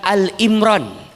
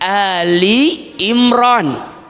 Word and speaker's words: Ali Imran: Dan ingat, saat membacanya, bukan "Al Imran" tetapi "Ali Imran ." "Al Imran" berarti Imran saja. Namun "Ali Imran" berarti keluarga Imran.